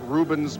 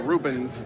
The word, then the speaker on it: Rubens: Are you going to be able to pronounce Rubens Barrichello if he comes over here to race? Ruben who? No, Rubens.